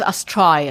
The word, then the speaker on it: Astraia: The name is Astraia. I will spell it.